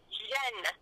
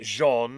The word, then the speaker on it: Jean: So, yes, it's Jean. But if you're going to call me the French pronunciation, it's actually Jen for females. Bjen as in Genevieve. Genevieve. Jen, not Jean.